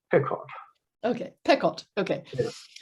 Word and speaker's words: Pequot: And then there's Pequot, which the summer people don't call Pequot, they call it Pequot or something. I'm not sure of it. Not Pequot. Pequot. Okay. More like Pequot.